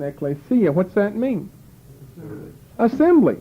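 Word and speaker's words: ἐκκλησία: ought to recognize what's that word mean Ecclesia Ecclesia that's the right pronunciation Ecclesia what's that mean assembly right that's the word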